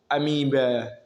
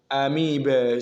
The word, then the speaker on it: amoeba: or generally accepted the way it is what pronounced there. So that's that. Now let's look at this one here. So we have amoeba, amoeba.